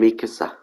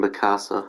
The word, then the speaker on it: Mikasa: got um Levi and Mikasa people keep pronouncing their name wrong as well people keep saying Picasso it's not let's get Levi first